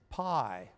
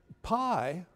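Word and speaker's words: π: Now that P is called for this purpose pi. Pi is the Greek version of P. In fact, in Greek, you pronounce it P, not pi, right?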